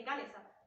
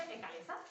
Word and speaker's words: Ekalessa: Y para nosotras siempre es Ecalesa. O sea, claro, lo hemos inventado nosotras, yo la pronuncio como quiero. Pero, ahí está el pez de roca. Pero todo el mundo cuando habla de la historia dice Ecalesa. Y claro, a mí me suena tan raro que me parece que